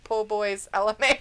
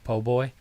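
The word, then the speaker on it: po' boy: boy sandwich po boy po boy is that how you say it po boy it's like poorer but po poor boy boy exactly yeah you think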